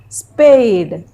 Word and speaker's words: spade: A sound is coming. E is written, but we are not speaking.